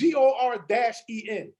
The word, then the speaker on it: Gordon: It's not Gordon. It's GOR-EN. That's a Brooklyn thing.